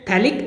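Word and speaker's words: phthalic: तो ये बहुत ही फेमस कॉमन नेम है जिसको हम लोग बोलते हैं थैलिक एसिड। TH यहां पे साइलेंट होता है, थैलिक एसिड, थैलिक एसिड।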